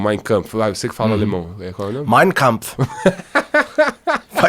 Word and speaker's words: Mein Kampf: É Mein Kampf. E olha que eu tenho uma pronúncia nazista, inclusive.